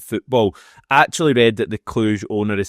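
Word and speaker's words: Cluj: and that bid was swiftly rejected now Chufury Kluj and yes that's how you say it and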